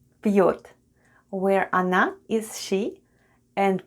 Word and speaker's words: пьёт: The first sound is P. Then we have soft sign. And soft sign makes the preceding letter sound soft. So we have P. Then we have Ё and T at the end. And altogether it's пьет.